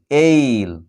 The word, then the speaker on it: ail: তারপরে AIL, এইল, শব্দের শুরুতে।